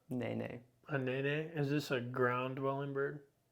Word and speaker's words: Nene: A nene?